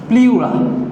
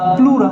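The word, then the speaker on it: pleura: ফুসফুসের কাভারিংকে বলা হয় প্লিউরা বা প্লুরা, যেটাই বলো না কেন তুমি, প্লুরা বা প্লিউরা যাই বলো, ইংলিশকে বাংলা প্লিউরা যেভাবে উচ্চারণ করো।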